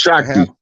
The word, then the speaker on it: Shakti: It's pronounced Shakti.